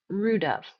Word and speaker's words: rude of: I don't say rude of. It's not two stressed syllables. Of is going to be unstressed. So, it's going to sound like rudov. Rud. Sounds like one word.